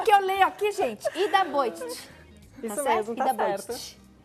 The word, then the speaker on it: Ida Bojtic: Ida Bojtic.